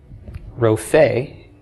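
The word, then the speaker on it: רופא: That noun is spelled resh, pei, aleph, a cholam between the resh and pei, and a tsera under the pei, Rophe.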